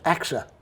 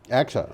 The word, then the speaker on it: AXA: background yeah okay this is from clean technica axa which is pronounced axa axa okay i looked into that okay try to